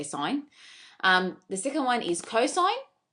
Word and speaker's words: sin: long version we say sign for sure it's s-i-n a lot of students pronounce it as sin but it's actually you still say sine the second one is